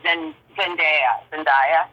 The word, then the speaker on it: Zendaya: So I celebrate when I see an actress like Zendaya.